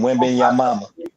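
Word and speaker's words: Wembanyama: France that's his thing last name win being your mama your mama yeah that's that's how you pronounce it oh Lord the guy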